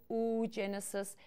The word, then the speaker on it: oogenesis: females it is called oh genesis that's I say it that way so you can spell it it's oogenesis or you just say Oh Genesis were just fine alright now we get to